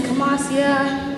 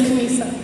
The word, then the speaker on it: Khamisa: Some of you may know me as Khamasia, Khamisa, Kasima, Shamisa, or even. But just to be clear, my name is Khamisa.